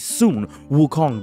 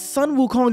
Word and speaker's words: Sun Wukong: in fiction period ever now many people are going to tell you well it's Sun Wukong get stop right there he pronounced the name incorrectly ignore him he stuttered